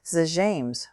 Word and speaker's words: Zh'james: Zames, we meet in the appointed place. For the first time, Dion gave his name the Romulan pronunciation which she had said once would be proper.